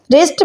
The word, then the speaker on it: wrist: "wrist" में W silent है।